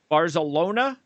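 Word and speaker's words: Barzalona: uh who won the dubai world cup barcelona barcelona yes that's that's how you say it bars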